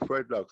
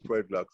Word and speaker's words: Fred Locks: So I say, you know what, I'm going to call myself Fredlocks, because I rhyme with dreadlocks. So I name myself Fredlocks instead of Melancholies.